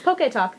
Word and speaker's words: PockeTalk: You keep saying PockeTalk? It's PockeTalk. There's no extra T. It's not PockeTalk. No. Oh, I've been saying it wrong.